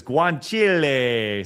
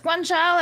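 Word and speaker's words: guanciale: Uh Axe Axe Bear who cares came back says Carbonari use uses guanchile suspicious use of that's not how you pronounce it. It's guanchala and it's just of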